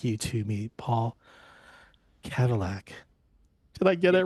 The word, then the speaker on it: Kavulak: I'd like you to meet Paul Cadillac.